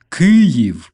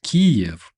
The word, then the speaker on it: Kyiv: It's Kyiv, not Kiev, you dirty Why Russians call beautiful city of Kyiv that we pronounce like this, why did they call it Kiev? I literally I want to vomit every time I even pronounce this Kiev. What the hell is that? Kyiv, that's the name.